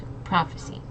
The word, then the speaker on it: prophecy: of the future and the p and the H notice how it's like making F sound prophecy and again emphasizing on that first syllable okay next we have